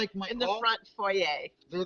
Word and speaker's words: foyer: placed it in the foyer. And foyer, to those of you that would prefer I say it that way, but foyer. Foyer is the French pronunciation.